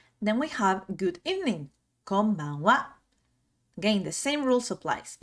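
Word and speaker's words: こんばんは: Then we have good evening, konbanwa. Again, the same rules applies. Even though it's a ha, we're gonna pronounce it as a wa.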